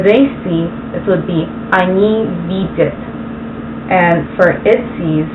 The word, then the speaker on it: Они: He is on, she is Она, and they is Они.